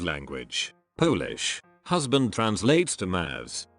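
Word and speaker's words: mąż: Let me add that in my native language, Polish, husband translates to Maz, you pronounce it somewhat like Mausch.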